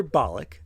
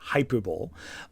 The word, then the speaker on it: hyperbolic: because you're hyperbolic reaction and yes it's hyper hyperbolic not hyperb um is so over